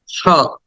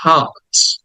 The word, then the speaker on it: heart: And the next word is hot, hot। আটাকে টেনে বলতে হবে hot, hot। এই আরটা বা র সাউন্ডটা ব্রিটিশটা উচ্চারণ করে না, এই জন্য ওটাকে সাইলেন্ট করে দিয়েছি, এই জন্য বলতে হবে hot, hot।